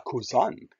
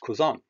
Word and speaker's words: Cousin: Remember, now, as I said yesterday, a cousin is pronounced cousin, not cousin or cousin.